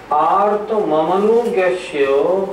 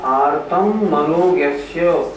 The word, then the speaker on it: आर्त ममनोज्ञस्य: आर्त ममनुज्ञस्य संप्रयोगे तद विप्रयोगाय स्मृति समन्वाहारः। फिर बोलिए। बहुत से लोगों का उच्चारण होता है आर्तम मनोज्ञस्य, नहीं ऐसे नहीं, आर्त ममनोज्ञस्य संप्रयोगे।